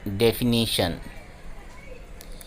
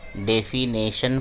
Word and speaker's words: definition: The next word is डेफिनीशन, लेकिन अक्सर इसे डेफिनेशन प्रोनाउंस किया जाता है या डेफिनेशन बोलते हैं, बट इट्स एक्चुअली डेफिनीशन।